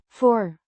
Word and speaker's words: voor: Four means before or in front of pronounced for similar to the English word it's a preposition indicating